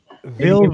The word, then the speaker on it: Villeneuve: It's French, man. I don't know. It's. Villeneuve, Villeneuve. Villeneuve.